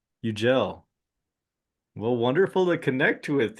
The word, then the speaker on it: Yucel: See, it's pronounced like a G. It's Yucel. Yucel.